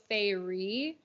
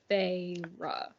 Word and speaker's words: Pharaoh: was pronouncing it wrong I always wanted to go Fairy like fairy yeah but also PHA makes more sense because it's like the F farra you know and so now what